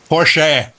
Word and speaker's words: Porsche: I met him said Porche Porche Porche it's Austrian and that's how they pronounce that final e it's sort of like